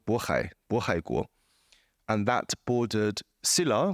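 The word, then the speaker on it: 渤海: speak Korean, Palhe, and I suppose the native pronunciation would be Bohe. So in Mandarin, it's called Bohai, Bohaiguo, and that bordered Silla, which I suppose was the precedent to Korea, and bordered Khitan.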